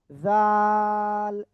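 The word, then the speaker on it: ذال: জাল তিন আলিফটা নিয়ে উচ্চারণ করতে হবে।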